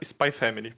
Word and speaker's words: Spy x Family: assisti sem nenhum compromisso Spy Family ele se escreve spay x Family mas ele só se fala Spy Family Por algum motivo não